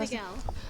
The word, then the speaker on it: Figiel: Figiel.